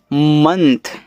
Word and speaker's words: month: MONTH इसको पढ़ते हैं मंथ, ऐसे मंथ।